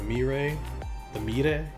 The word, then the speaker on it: Moirai: who are named after the Moirai, or the Mire, as my Greek friends pronounce it, and it's Greek mythology.